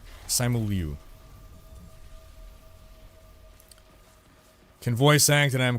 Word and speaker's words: Simu Liu: I don't know how to pronounce his name. Simu Lee? Simu Liu? Simu Liu.